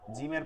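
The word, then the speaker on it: جيم: যেমন হা লম্বা হা জিমের পরে এটা হালকা হা আর গোল হা ভারী আওয়াজ হা কোনটা হচ্ছে আপনার শক্ত হবে কোনটা নরম হবে শক্ত কোনটা যেমন জিম জিমকে চাপ দিয়ে পড়তে হবে জি জি জিমকে চাপ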